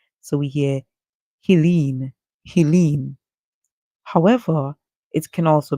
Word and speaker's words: Helene: them to pronounce it in the manner that the hurricane is pronounced as, which is Helene. Okay? Helene. Hurricane Helene. Some may want to pronounce it as Helen. However, Helen would not have a silent E at the end.